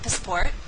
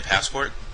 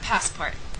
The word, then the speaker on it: passport: It will then be your turn to practice saying the correct pronunciation of the highlighted word. Let's try an example. Do you have a passport? Oh, do you mean a passport? Yeah, passport.